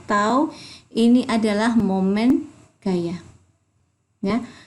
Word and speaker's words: tau: itu tahu ini tahu jadi lambang ini namanya bacanya tahu ini adalah momen gaya